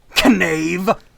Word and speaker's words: knave: Knave. Which, I mean, I know you say that you don't pronounce the K in knave, but like I just thought I'd do it anyway to like.